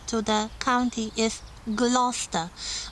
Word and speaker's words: Gloucester: The proper way of pronouncing this name is Gloucestershire, and the cathedral city that gave its name to the county is Gloucester. Gloucester, with beautiful, very well preserved Gothic cathedral and the cloisters.